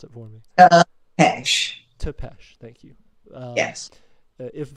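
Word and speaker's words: Țepeș: last name, so please, if you wouldn't mind, pronounce it for me. Tepesh.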